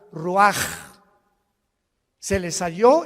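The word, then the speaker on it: רוּחַ: Así como suena, se pronuncia la CH en hebreo como J, Ruach.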